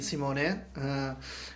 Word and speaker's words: Simone: used to call me Simone Limone. So my real name is actually Simone, and it rhymes with limone.